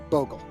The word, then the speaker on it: Bogle: didn't invent Boggle, and his last name's actually pronounced Bogle.